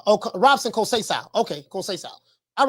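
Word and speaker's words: Robson Conceição: your boy received oh you say coach just pronounce um Robson kosea Robson call Cesar oh Robson kosai okay all right um yeah man he said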